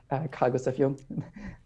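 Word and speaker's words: Carl Gustav Jung: by carl agustin young cargos of young which is the german pronunciation and and so that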